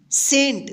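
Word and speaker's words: cent: सी ई एन टी सेंट देखिए यहां पे सी का 100 उच्चारण हुआ है। सेंट यह कैसे हुआ है? आपको जब इसका उच्चारण नियम सिखाएंगे ना उसमें सारा क्लियर कर देंगे। आप कोई भी डाउट अपने अंदर मत रखिए जो आज का क्लास में है। बस इसको अच्छे तरीके से आप याद कर लीजिए। बस ये कि सी का उच्चारण दो है। क और स बी का जो आवाज निकलेगा ब निकलेगा।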